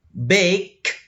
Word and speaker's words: baked: Baked. Nah, ada juga yang menggunakan te. Nah, ini bukan de saja tapi te.